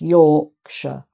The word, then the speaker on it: Yorkshire: But when it's added on the end of an actual county name, it's pronounced sh, sh, because the first part has more emphasis than the second. So it's Yorkshire, Derbyshire, like that.